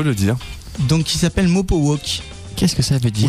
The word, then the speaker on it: Mopowok: Et que mal prononcé, ça se dit Mopo Walk.